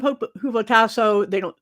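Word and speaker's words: ὑποτάσσω: And the verb hupotasso, I'm pronouncing H here because that's the way it is in the Greek.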